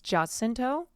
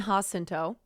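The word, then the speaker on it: Jacinto: I can't remember how to pronounce his last name. Just I think it's Justinto. Hard J. Yeah, I know. We all spoon over him. It's H. Okay. Hento. Never mind. I was wrong. Manny Hosento.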